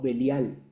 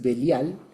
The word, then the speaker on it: Belial: Ahí literalmente dice Velí y al, que es lo que normalmente se traduce o se suele pronunciar más rápido como belial.